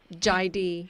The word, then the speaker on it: Jaidee: And it's called Jive? Jaidi. It's spelled Jaidee, Yoga and Wellness Studio.